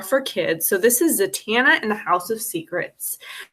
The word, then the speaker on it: Zatanna: dc characters more for kids so this is zatanna in the house of secrets so in the dc universe actually it's pronounced sat anna they make a point to say this in